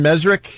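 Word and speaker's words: Mezrich: We had our friend Ben Mesrick.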